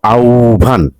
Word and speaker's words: আহ্বান: মানে আ শক্তি আসক্তি আহ্বান অর্থাৎ উচ্চারণ আউ আওভান মানে আও ভান ইত পূর্বে উচ্চারণ হচ্ছে